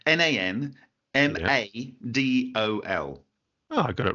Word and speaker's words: Nan Madol: and I still said it wrong, but it's Nan Madol. Oh, I got it right. Okay. Ta-da! Yep. Is my pronunciation?